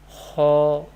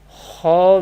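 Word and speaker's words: خ: Kha will be pronounced from the top part of the throat. Kha letter, first Musta'liyah letter, is pronounced from the top part of the throat. How we decide, how we pronounce Kha? Kha, Kha, Kha.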